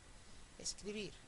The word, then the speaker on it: escribir: Escribir, escribir. Palabra aguda, el estrés está en la última sílaba, termina en R, con lo cual no hace falta ponerle la tilde.